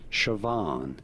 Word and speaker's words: Siobhan: go about pronouncing it siobhan you do want to stress on the second syllable the van syllable siobhan here are more